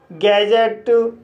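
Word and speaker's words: gadget: इसी तरह से बजट, लेज़र, कजल, गैजेट। तो गाइस इन सभी वर्ड्स में भी डी के बाद जी ई आया है, इसलिए डी साइलेंट है।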